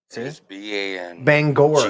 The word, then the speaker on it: Bangor: That's not how it's spelled there. It's not. No, it is too bangor.